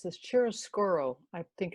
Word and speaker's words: chiaroscuro: The type of painting that she was doing is called, I'm going to pronounce this, chiaroscuro, I think it's pronounced.